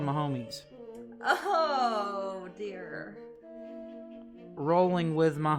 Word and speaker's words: Mahomes: are waking up oh so it is pronounced my homies i thought it was mahomes i don't know anything